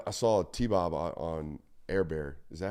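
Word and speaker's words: Hebert: saw a T-Bob on airbear is that how you pronounce that um it looks like Herbert but it's actually air bear apparently um that's how he pronounced it I saw him on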